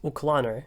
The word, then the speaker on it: uclanr: bit too much, which is why I made uclanr. And yes, believe it or not, that's how you pronounce it.